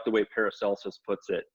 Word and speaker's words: Paracelsus: And to me, again, I go back to, I like the way Paracelsus puts it. And some people say Paracelsus, hard C.